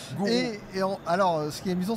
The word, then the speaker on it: Guru: Mais ça s'écrit Guru. Voilà, Gourou.